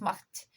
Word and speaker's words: Mac: Mackenzie, MacGregor, MacDonald, McKee, McNab, but you have to remember that Mac is a word derived from Scottish Gaelic. Macht. It's pronounced Macht, and it means son of Kenzie.